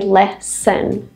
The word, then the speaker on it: lesson: lesson two syllables Leen the first vow sound in the first syllable is an e short e the same that's in egg e but we don't really say The Vow sound in the second syllable we don't say less Leon we say lesen n so you can